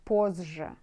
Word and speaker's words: позже: Maybe this Z, like a bit smaller than J. J more bigger. To be easier for pronunciation. You know? Позже. Okay, see you. Позже. Call me позже. Позже. See, позже. Maybe like when you pronounce it like double J.